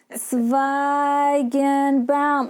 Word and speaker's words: Tsvaygenbaum: So I would pronounce it really slowly. I would say, Tsvaygenbaum, in hopes that they would get the hint that I would really want them to pronounce it.